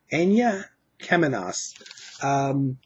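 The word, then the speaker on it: Aina Kemanis: And I never knew how to pronounce her name, but it's Aina Kemenas, who is a fantastic vocalist.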